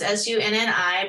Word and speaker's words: Sunni: It's Sunni Inc., and it's Sunny spelled like Sunni. So it's Sunni, Ink, Inc., Sunni Inc.